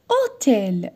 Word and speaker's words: hôtel: mets cet cet hôpital hôtel la même chose je n'ai pas prononcé le h hôtel l'hennuyer donc je mets